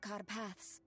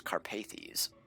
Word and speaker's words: Carpaths: But when we came to the village of Carpaths, we fell under the gaze of the vampire lord, who destroyed my family. So that's how you pronounce it. I always thought it was Carpathes.